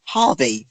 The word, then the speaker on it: Jarvis: Well, it's Jarvis' real dad, but it's actually in the show is pronounced Harvey for some reason. I wonder why they pronounce it as Harvey when. Is he Latino? Yes. That'd be why. That's how they pronounce their James.